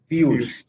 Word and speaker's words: Piyush: Or am I pronouncing it wrong? Piyush.